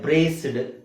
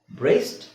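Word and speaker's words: braced: rule ಇದೆ ಪ್ರಿನ್ಸಿಯೇಷನ್ rule ಇದನ್ನ ನಾವು ಡಿ ಸೇರಿಸಿ ಹೇಳೋದಾದ್ರೆ ಹೇಗೆ ಆಗುತ್ತೆ ಬ್ರೆಸ್ಡ್ ಡಾನ್ಸ್ಡ್ ಪೆನ್ಸ್ಡ್ ಫೋರ್ಸ್ಡ್ ಪ್ಲೇಸ್ಡ್ ಇಸ್ಡ್ ಸಿಡ್ ಸಿಡ್ ಅಂತ ಬರ್ತಾ ಇದೆ ಆತರ ಹೇಳೋಹಾಗಿಲ್ಲ ಅದಕ್ಕೆ ಅದುಡಿ ನಟಿ ಮಾಡ್ಕೋಬೇಕು ಉಚ್ಚಾರಣೆ ಹೇಗಾಗುತ್ತೆ ಬ್ರೇಸ್ಟ್ ಪ್ಲೇಸ್ಡ್ ಫೆನ್ಸ್ಡ್ ಡಾನ್ಸ್ಡ್ ಟ್ರೇಸ್ಡ್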